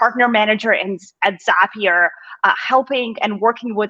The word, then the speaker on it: Zapier: uh thank you to i i'm glad my pronunciation of zapier is correct you just confirmed that for me